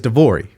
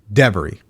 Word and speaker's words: Devori: My name is Devori, but every time I meet someone, you know what they say? Devery.